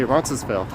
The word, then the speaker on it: Roncesvalles: do think the uh silent s is a little more common pizza dad bud says all the way from portland how would you say it with no s they just say roncesvale although pronouncing names in